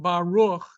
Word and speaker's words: Baruch: The third sound in the word Baruch is actually a vowel sound. And it is pronounced as U.